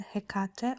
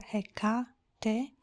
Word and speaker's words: Hecate: mine called Hecate or Hecate. It is a Greek goddess, and her name appears with Hecate with C or with K, Hecate. It has sometimes a little bit different pronunciation, but they're all correct now.